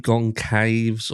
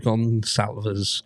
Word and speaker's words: Goncalves: Talking about something that Get a Clue said, and he was talking about Steve Gonsalves. Not Steve Goncaves or Gonclaves or anything like that. Steve Gonsalves, Goncalves.